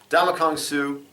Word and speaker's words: Ndamukong Suh: See, I was trying to pronounce the end. The end's silent. Ndamukong Suh.